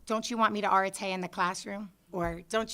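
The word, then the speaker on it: arete: there with pronunciation guides, we use a British pronunciation, so we're not pronouncing it the way that some of you may research it. But we say Areta, and there's no equivalent word in the English language.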